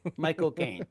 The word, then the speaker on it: Michael Caine: You know, he said the best way to pronounce his name is to say my cocaine, but fast. Mike O'Kane, because that's how he says it.